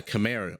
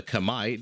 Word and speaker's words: Khmer: your screen are playing the Khmer or the Kamai depending how you want to pronounce it now the Khmer